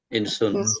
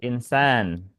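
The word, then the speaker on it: إنسان: Tapi kalau kita mau buat kata yang hamzah itu dibaca pakainya hamzah yang di bawah kayak gini. Sudah pasti nih kita akan bacanya kasrah dia al-insan.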